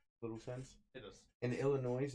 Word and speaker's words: Illinois: In Illinois, it's illegal for underage culinary students to drink alcohol. First of all, did you just pronounce the S at the end of it? Illinois.